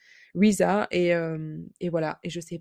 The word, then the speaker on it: RZA: comment ça se prononce?» En fait, ça se prononce comme la chanteuse SZA. Ça se prononce Riza et donc du coup, SZA pour la chanteuse. Riza et voilà.